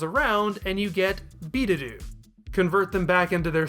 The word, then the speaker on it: Biideru: supposed to be lengthened the first vowel sound is changed from what it is in Devil to a long e sound you can very easily hear that in B to do the actors are very